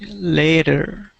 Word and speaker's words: later: so important is because you don't want your version of later to sound like letter so see that spelling that's you're the way that you're pronouncing it before sounded like a letter like you were writing a letter so I wanted it to sound like a later okay later good next